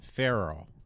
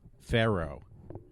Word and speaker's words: Pharaoh: Pharaoh. Pharaoh. Not not not like the animal, but you know.